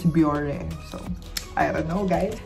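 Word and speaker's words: Bioré: in japan as well i pronounce it as bjor but my japanese kohli told me it's biore so i don't know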